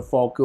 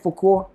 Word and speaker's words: Fauquier: I'm in Fauquier County.